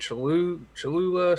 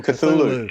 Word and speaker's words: Cthulhu: Cholula, something like that tube. Oh, Cthulhu.